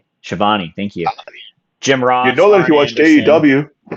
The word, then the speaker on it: Schiavone: I don't even know how to pronounce his last name. Schiavone, thank you.